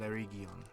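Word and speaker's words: Eregion: Ekad Erigion. Pronunciation's a bit... I switch between it because it's like Erigion, right? Region, right? But in Third Age, Ian McKellen, playing Gandalf, calls it Erigion.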